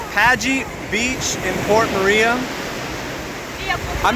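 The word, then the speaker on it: Pagee: the G okay welcome to P pagey is that how you say it yeah pagey beach in Port Maria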